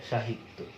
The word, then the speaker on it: সাহিত্য: তুমি যদি দন্ত স দিয়ে একটা শব্দ দেখো, দন্ত স দিয়ে, যেমন ধরো সাহিত্য, সাহিত্য, আমরা সাহিত্য বানান লিখছি কিন্তু দন্ত স দিয়ে, আর উচ্চারণ করছি তালবস্য দিয়ে, SH, যেটা সাহিত্য, সাহিত্য।